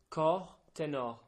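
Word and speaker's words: cor ténor: Tenor horn in French is a cor tenor. Cor tenor. Yeah, it's kind of good because it rhymes.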